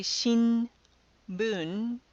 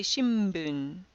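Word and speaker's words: 新聞: that kind of um is sometimes pronounced not as an N but as an M as in mother for example in the word shimbun we don't say Shin Boon we say shimbun with an M sound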